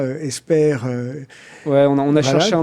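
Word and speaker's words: Hesper: C'est une signification, je le précise, Esper, ça s'écrit H-E-S-P-E-R, c'est pas Esper.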